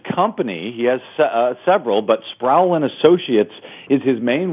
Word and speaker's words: Sproul: Sproul, is it pronounced? Sproul, Nathan Sproul. Sproul, thank you.